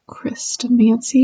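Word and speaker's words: Chrestomanci: Christomancy?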